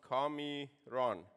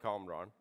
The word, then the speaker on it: Kamran: know about chaos well my name in Japanese is pronounced call me wrong not calm wrong or Cameron call me wrong and